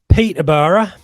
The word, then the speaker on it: Peterborough: Look, Peterborough. That's the proper pronunciation, the East Anglian pronunciation there, Seb.